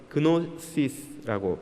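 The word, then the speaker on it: γνῶσις: 지식, 헬라어로는 그노시스라고 발음합니다.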